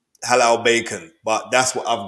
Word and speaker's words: Halal: yesterday he was saying he said it wrong bacon hello but it's supposed to be Halal bacon so I believe that